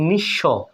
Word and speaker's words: নিঃস্ব: বন্ধুরা বিশ্বাস অনুরূপভাবে দেখুন নিঃস্ব এখানে দন্তস ডাবল হচ্ছে কিন্তু ব ফলা উচ্চারিত হচ্ছে না নিঃস্ব পক্ষ আপনারা এগুলো